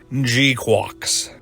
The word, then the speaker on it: GQuuuuuuX: called Gundam and yes this is how it's pronounced gqu and that title is I guess the first